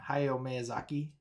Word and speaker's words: Hayao Miyazaki: Hayao Miyazaki.